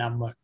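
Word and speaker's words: عمرو: A proper name like Amrun is there's vowel in the end, but it is not pronounced.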